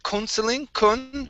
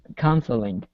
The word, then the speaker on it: counseling: better this word here instead of counseling it's counseling okay very nice and the